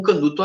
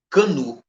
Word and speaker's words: Canut: Alexandre Canut, que em francês se pronuncia Alexander Cagny, professor em Paris.